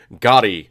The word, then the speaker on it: gari: The pickled ginger in the sushi world is a condiment known as gari.